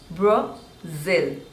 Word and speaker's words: Brazil: next one is Brazil Brazil and stress is on the seconds label Brazil Brazil Brazil Brazil